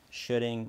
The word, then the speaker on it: shoulding: The first of these three I'll introduce in this video is what I like to call shudding mind. Rhymes with pudding, it's not sweet at all, and in fact, most of the time it's quite bitter or sour.